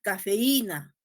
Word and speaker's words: cafeína: Escuchen, yo no digo cafeína, cafeína, no, yo digo cafeína, yo digo Raúl, yo digo brujería. ¿Se dan cuenta que esa I y esa U tiene presencia sonora?